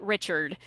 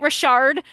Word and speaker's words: Richard: And that explains why you were able to pronounce his name correctly. Nothing nothing gets me more than uh someone saying rocket Richard. It's rocket Rashard for anyone uh not in the no.